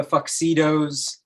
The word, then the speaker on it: Fuxedos: You want to find the name The Fuxidos It's spelled like tuxedos with an F, so it makes a fuck sound.